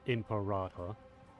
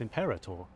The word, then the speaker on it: Imperator: Why do they keep saying saying emperor? It makes it sound like they want to say emperor, but it's not. It's imperator. They are pronouncing that very strange to me cuz I swear it's always been pronounced as imperator before now.